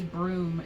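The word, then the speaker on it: brume: And remember anytime I say broom in this particular uh video, know that it's spelled b r u m e.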